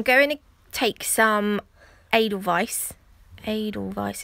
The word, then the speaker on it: edelweiß: to take some edelweiß edelweiß is how you say it sounds funny today and I just put